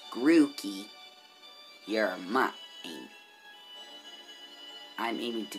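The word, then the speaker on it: Grookey: gonna go with oh i mispronouncing it it's grooky you're my i'm aiming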